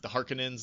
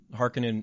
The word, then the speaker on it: Harkonnen: Harkonnen is typically mispronounced. People say Harkonnen.